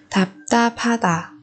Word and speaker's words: 답답하다: Thứ nhất là bật thật chim thì ở đây kết hợp với phụ âm hiệt thì chúng ta chuyển nó thành phụ âm bật hơi.